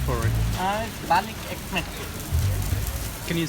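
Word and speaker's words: balık ekmek: Balik ekmek. Can you say that again? Balik ekmek. Balik ekmek.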